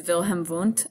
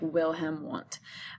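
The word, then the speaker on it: Wilhelm Wundt: so the next is Vilhelm oont it's spelled with W like will him want and he developed the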